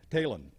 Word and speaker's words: Talen: Hall of Fame, Cy Talen. Now, Elvin Nelson's wife, Kay, said that Cy told her that it is pronounced just like Taylor, but you drop the R and you put an end on it.